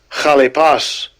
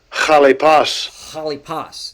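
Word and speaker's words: χαλεπός: Chalipas. Chalipas. That's how he pronounces it. Put the ha in.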